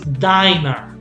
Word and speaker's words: diner: pronunciation is also so this is dinner this one is dinner double n yeah but this one is diner diner okay so in english